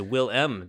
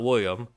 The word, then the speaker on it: Willem: saying it wrong but it is will m dafoe not william stop selling william willem's